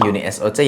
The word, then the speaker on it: UNISOC: Dan buat kalian yang belum tahu dengan chipset yang satu ini, bacanya yang benar Uni SOC ya.